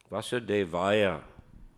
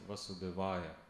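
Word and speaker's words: वासुदेवाय: Vasudevaya. Произносится. Акцент Васудевая. Это русская болезнь. Везде в России не произносят Vasudevaya.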